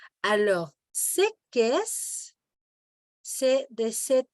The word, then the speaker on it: qu'est-ce: On ne prononce pas la lettre E. Alors, c'est qu'est-ce?